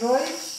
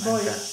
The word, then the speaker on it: Boix: També Boix, però després ja en el temps s'ha donat compte que el pronunciaven mal, perquè igual que diem, per exemple, quan diem l'hort de baix, sí. Està escrit baix, si no diem hort de baix, és baix.